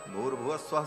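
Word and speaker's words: भूर्भुवः स्वः: विसर्ग को र हो के और फिर वह र ऊपर चला जाता है तो भूर भव स्वः ऐसा उच्चारण होता है।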